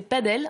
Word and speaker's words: padel: Une raquette facile à manier pour un sport encore peu connu, le paddle, qui peut être prononcé padel en référence à ses origines latines.